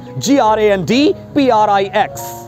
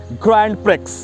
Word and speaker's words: Grand Prix: GRANDPRIX. People often wrongly pronounce it as Grand Prix, which is wrong, totally wrong. It's Grand Prix. Grand Prix.